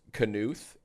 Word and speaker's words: Knuth: Oh, it's pronounced Knuth.